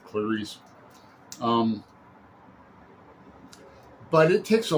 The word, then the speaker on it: Clarice: respect or novel uh he pronounces her name clarissie because uh online youtube there's a example of a i think a portuguese man pronouncing it that way so it's probably correct but i'm just going to stick with clarice um but it takes